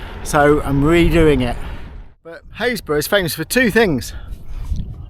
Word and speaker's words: Happisburgh: I'm just heading towards Happisburgh, or Happisburgh as you might pronounce it if you didn't know the local dialect.